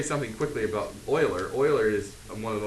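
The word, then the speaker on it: Euler: guy's name right here his name is Leonard Oiler or you want to be Oiler it looks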